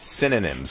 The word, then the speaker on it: synonyms: making me say it wrong say say it synonyms synonyms there you go I just hear it